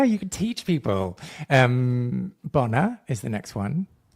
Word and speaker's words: bona: Um, Bona is the next one.